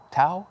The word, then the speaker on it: Dao: It's the crux of what Confucious taught in the Dao, Tao, Dao, how it's pronounced.